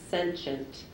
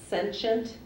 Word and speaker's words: sentient: your word is sensient sensient sent could you repeat the word please yes it has two pronunciations let me give you both of them sensient or sensient sentient c e n